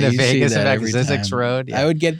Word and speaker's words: Zzyzx: Let's hope I could pronounce some of this stuff. Zix, the alphabetically last town name in the United States of America, is located in this state.